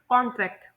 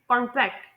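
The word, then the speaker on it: contract: मिसाल के तौर पर कांट्रैक्ट जो वर्ड है इसे हम लोग नाउन और वर्ब में इसके स्ट्रेस को देखेंगे पहले में है कांट्रैक्ट दूसरे में है कांट्रैक्ट ठीक है तो ये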